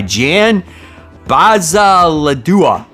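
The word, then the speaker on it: Bazaldua: The writer here is Al Ewing, and the art is done by Jan Bazaladua.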